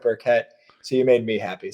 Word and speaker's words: Burkett: pronounces us as the burkitts but i find that when i introduce myself as burkett people hear that sharp syllable so i go with burkett so you made me